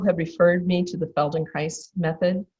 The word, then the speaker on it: Feldenkrais: And so a number of people have referred me to the Feldenkrais Method. Feldenkrais rhymes with paradise, for those of you